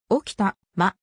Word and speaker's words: 置賜: 地方名である体感的におきたま置賜どちらの発音も同義として解釈されるが大き魂の方方が古い後であるこれは日本